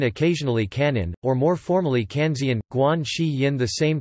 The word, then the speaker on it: Kanzeon: In Japanese, Guanyin is pronounced Kanan, Guan Yin occasionally Kanan, or more formally Kanzian, Guan Shi Yin, the same characters as Guanxian.